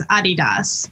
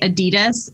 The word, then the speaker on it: adidas: the technical pronunciation is a DDoS because it's the name of our founder whose name was Adi Dassler however as you know in America we say adidas and so many colleagues